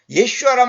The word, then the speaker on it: 예슈아: 근데 이제 그 예수님을, 이게 예수님의 그 히브리 원 단어의 발음은 예슈아입니다. 예슈아. 예슈아란 말은 뭐냐면 구원하시는 분, 그런 뜻이에요.